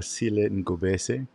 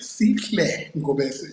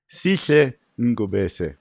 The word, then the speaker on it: Sihle Ngobese: So we got Sihle Ngobese. How was that? Still butchered. Sihle Ngobese. Sihle. Sihle Ngobese. Perfect.